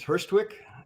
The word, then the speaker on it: Hurstwic: to being what you do okay sure we pronounce it as first Twix folders the name is just made up and